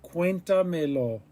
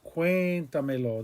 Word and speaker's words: cuéntamelo: Because we added 2 pronouns, and the word is pronounced cuéntamelo. That E is a stressed vowel.